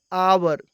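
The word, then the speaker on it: hour: है next example है आवर आवर में एच साइलेंट है और इसका उच्चारण बवेल साउंड की तरह है इसलिए आवर के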